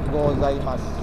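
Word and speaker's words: ございます: pagi itu tulisannya ohayo punya itu di akhir kalimat tidak dilafalkan jadi gozaimasu dibaca gozaimasu Itulah salah satu kalau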